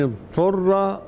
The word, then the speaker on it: اضطر: لغير الله به فمن اضطر ضاد ساكنة وبعدها طاء الضاد لا تدغم في الطاء لأن الطاء أقوى من الضاد ننطق الأول بضاد وبعد كده الطاء فمن اضطر غير باغ